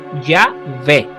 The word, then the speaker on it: Yahvé: Incluso los maestros de hebreo bíblico saben, porque me lo han dicho, que la pronunciación correcta no es Yahweh, sino Yahvé, que corresponde exactamente a